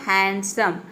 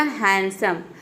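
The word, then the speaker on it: handsome: हैंडसम ड जो है डी जो है ये साइलेंट रहेगा देखिए यहां देख सकते हैं एन डी एक साथ आ रहा है एन डी तो डी को प्रोनाउंस नहीं करना है यहां पे देखिए एच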